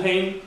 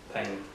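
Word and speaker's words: pein: We have the ball pane, which is P-E-I-N, and the cross pane. I think that's how I pronounce it.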